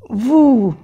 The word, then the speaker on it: vous: Vous, no se pronuncia la S.